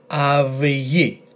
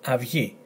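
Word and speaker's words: αυγή: On this word, instead of af, it's pronounced av. And this letter g and this letter I, av-yi, av-yi. And why you pronounce this as av and not af? If you remember, if followed by one of those letters, and there you have it, this combination is followed by letter gamma, g, and therefore is pronounced av-yi, not af-ti.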